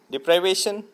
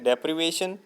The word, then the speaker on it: deprivation: डिप्राइवेशन, डिप्राइवेशन का मतलब होता है कमी या लॉस, इसका करेक्ट प्रोनाउंसिएशन है डेप्रिवेशन, DEPRIVATION।